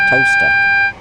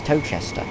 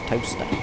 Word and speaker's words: Towcester: It's a bit like toaster, which is Towcester. Or Towchester, which you'd think is Towchester, but it's not, it's toaster.